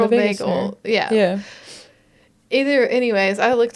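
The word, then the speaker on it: vagal: saying it wrong yeah it's not Vegas nerve it is vagel yeah either anyways I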